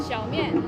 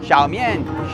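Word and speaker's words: 小面: How do we pronounce that again? Xiaomian. Xiaomian.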